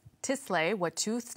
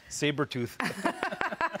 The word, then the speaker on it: Tsleil-Waututh: And thanks for pronouncing our nation right. Some people get it confused and call us Sabertooth.